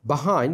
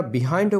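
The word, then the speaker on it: behind: সারা বিশ্ব ভ্রমণ করেছিলেন বাহাইন্ড মানে পেছনে এটার উচ্চারণটি আপনারা বিহাইন্ডও করতে পারেন বাহাইন্ডও করতে পারেন তবে সাধারণত বাহাইন্ড উচ্চারণ করে বিহাইন্ড করে না তবে ডিকশনারিতে আপনারা দেখবেন উচ্চারণটি বিহাইন্ড দেয়া আছে সেটি শুদ্ধ আর বাহাইন্ড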